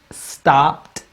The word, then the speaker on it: stopped: Stopped. Stopped. The ed sort of just sound like a light D. Stopped. Where you're barely hearing the D sound.